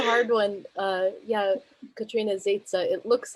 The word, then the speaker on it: Zezza: well first of all i love that you pronounced my name correctly it's a hard one uh yeah katrina zaitza it looks like zesa but it's safe um i am on a